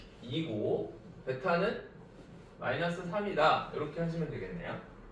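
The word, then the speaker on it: β: 요거는요? 베타. AB라고 읽으시면 안 됩니다. 네. 알파 베타예요.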